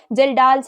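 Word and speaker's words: Kjeldahl: जल्डर्स experiment करना पड़ेगा यस जिल डाल्स एक्सपेरिमेंट के इज साइलेंट ठीक है तो क्या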